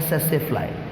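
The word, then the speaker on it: tsetse fly: इसको हम प्रोनाउंस करते हैं सेसेफ्लाई. सेसेफ्लाई, टी को साइलेंट रखेंगे.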